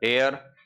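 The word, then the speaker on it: heir: उधर एयर ये H silent है।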